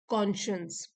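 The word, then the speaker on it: conscience: Spelling तो देखिए यहाँ पे साइंस वो वाली है, लेकिन हम इसको प्रोनाउंस करेंगे कॉन्शियंस।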